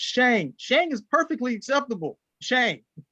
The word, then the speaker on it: Shang: It's Shang.